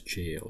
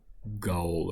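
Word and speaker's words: gaol: I only recently learned that this is pronounced as jail because when I was, when I had first downloaded the game, I mean this specific mod, I was pronouncing it like Gaul or something, but it's actually jail.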